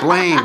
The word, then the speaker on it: Blaine: rock star looking guy rhymes with brain brain Blaine got it word association